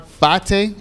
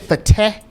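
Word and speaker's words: Fateh: mayor of Minneapolis Omar Fate I said fate in my previous videos but it looks like it's fate so we're going to try to pronounce it correctly Omar Fate actually went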